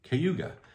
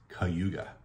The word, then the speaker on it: Cayuga: you see it and it looks like it should be Cayuga and a lot of people say Cayuga but if you are a local in the area it's Cayuga yeah I don't know